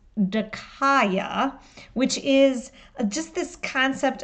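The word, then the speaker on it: δίκαια: it let's define just if you look at the Greek it's pronounced de kya which is just this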